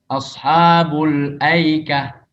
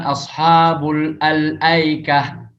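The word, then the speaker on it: الأيكة: Kalau dibaca sambung wasal, maka hamzah al-ta'rifnya itu tidak terbaca. Ashabul aikah. Jadi bukan ashabul al-aikah. Ya. Jadi langsung hamzah al-ta'rifnya, hamzah al-nya itu hilang kalau dibaca wasal.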